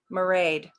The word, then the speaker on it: Mairead: By the way, it's pronounced kind of like parade, but with an M. Mairead. Okay. Hi, Mairead.